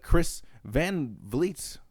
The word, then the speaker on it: Chris Van Vliet: She even used what Bayley said on the Chris Van Vliet, that's how you say his name, channel, when